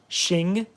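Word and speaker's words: Xing: have these Cool Motors they're spelled like x-i-n-g Shing in in um in Chinese in Chinese in American it's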